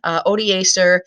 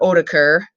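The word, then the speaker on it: Odoacer: all but in 476 Oda sir or oetiker if you want to go Latin or Germanic pronunciation takes out the final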